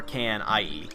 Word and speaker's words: Knie: It's either K-N-E-E or K-N-I-E in German. I forget which. But I think it's I-E. But they pronounce it knie. So they actually pronounce the K.